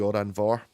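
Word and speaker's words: Òran Mór: So actually, Oran Mor, which is the place of, like, it's one of the venues in Glasgow, is actually Oran Vor. Because that's how you pronounce MH in Scots.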